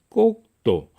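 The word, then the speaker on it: Cocteau: 꼭도. 우리말의 경음 있죠. 기읍, 티귿, 피읍이 프랑스어에서는 뿌 이렇게 나는 거죠. 그래서 우리가 영어로 페리스, 프랑스의 수도는 프랑스어 발음으로 파리. 제일 뒤에 페리스의 S는 프랑스에서의 마지막 자음은 발음이 안 되는 경우가 많죠. 그래서 장, 꼭도, 티도 토가 아니고 또, 꼭도, 장꼭도가 한 얘기예요.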